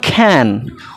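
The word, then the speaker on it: can: উচ্চারণটা কিন্তু ক্যান নয়, উচ্চারণটা বা খ্যান। উচ্চারণটা কী হবে? খ্যান।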